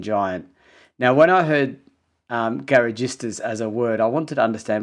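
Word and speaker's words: garagisti: Yeah, and it's interesting because even Enzo Ferrari called these British teams, now you might pronounce this better than me, Rosa, the Garagistas? Yes, Garagistas, that's right.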